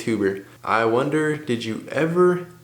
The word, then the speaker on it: Huber: Hey Gunther, it's Huber, pronounced Huggabear. That's how it's spelled, bro. I'm just kidding. It's Huber.